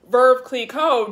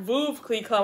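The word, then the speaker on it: Veuve Clicquot: and true this is my favorite i love verve click co and fun fact i just found out that it's verve it's pronounced verb click code not move key club i know it's confusing because there's no r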